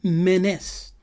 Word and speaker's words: Menes: And this Namer is also called Menes. The S being silent, so you will have to pronounce it as Mene.